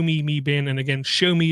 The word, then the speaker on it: Xiaomi: And again, Show Me is spelled Xiaomi.